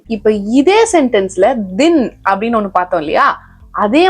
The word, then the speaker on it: दीन: இதே சவுண்ட்ல வரும், ஆனா தப்பா ப்ரொனவுன்ஸ் பண்ணிட்டீங்கன்னா அர்த்தமே மாறிடும். தின் தீன் அப்படின்னு வரும். தீன் அப்படின்னா ஹம்பிள், பண்புள்ள, தாழ்மையான, தன்மையான அப்படிங்கிற பொருள் வரும். वो बहुत दीन इंसान है. இங்க தீனுக்கு பதிலா தின் சொல்லிடாதீங்க, ஏன்னா தின்னா பகல் இல்லைன்னா ஒரு நாள்.